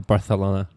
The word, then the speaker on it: Barcelona: I like the th on the Barcelona.